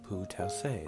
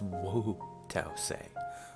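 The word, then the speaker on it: Wu Tao-tzu: Like Pu Taoise, the famous Chinese painter. Oh, that's Wu Taoise.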